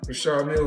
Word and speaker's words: Richard Mille: No, I like to call this Well, they people pronounce them in different ways. Rashard Mill is what my jeweler told me. So, it's exactly how you say it.